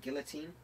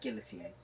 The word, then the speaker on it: guillotine: if guilty now it's actually pronounced always plastic guillotine guillotine guillotine guillotine rather than guillotine it just keeps filling